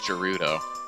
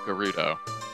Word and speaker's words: Gerudo: I actually originally thought that was pronounced Gerudo, but it's actually Gerudo, or Gerudo. Let me say that again. I thought that was actually pronounced Gerudo, King of Thieves, not Gerudo, King of Thieves.